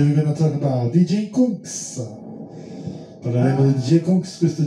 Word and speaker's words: Kungs: Conks pronuncia Conks, anche Valentin Brunel, is a fresh face producer from the south of France.